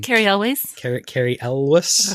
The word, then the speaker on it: Elwes: And I don't know how to pronounce his name. Carrie Elways. Carrie Elwes. Elwes.